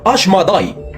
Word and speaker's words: أشماداي: أما في اللغة العبرية فينطق اسمه أشماداي.